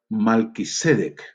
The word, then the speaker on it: Melquisedec: la palabra juramento, de Melquisedec, que en realidad se debería pronunciar Malquisedec, Malquisedec. Pero bueno, ustedes saben eso y vamos a usar distintamente esos dos nombres, aunque lo más correcto es Malquisedec.